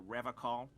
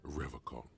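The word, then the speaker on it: Revachol: I've been tempted on occasion, but someone has to stay strong for Revocol. He pronounces Revocol with a hard K, unlike other people.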